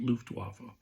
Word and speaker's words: Luftwaffe: I believe that's how you pronounce it, Luftwaffe.